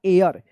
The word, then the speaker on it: heir: इसका सही उच्चारण होगा एयर, यानी यहाँ पे एच साइलेंट रहेगा।